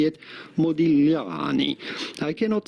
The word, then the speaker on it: Modigliani: In Italian, the true pronunciation would certainly not be Modigliani. You do not want to pronounce the G just like this. The Italians would say it Modigliani.